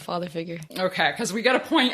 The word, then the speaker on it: Father Figuer: lakeways and father figure and i'm saying father figure right right it's yeah just straight old father figure okay because we gotta